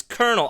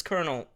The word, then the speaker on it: Colonel: whole life oh oh I'm so dumb it's Colonel of course it's Colonel I I'm sorry guys I'm like super tired